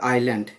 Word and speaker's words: island: ইন দা আইল্যান্ড, ISLANDA, এটা হবে আইল্যান্ড, এস এর উচ্চারণ হবে না, টাউন অফ রামেশ্বরম, মানে দ্বীপ শহর রামেশ্বরমে, তাহলে আইল্যান্ড টাউন অফ রামেশ্বরম, রামেশ্বরমটা হচ্ছে দ্বীপ শহর।